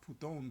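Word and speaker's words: Πύθων: Of course, it's pronounced Puthon, but its transliteration is Python.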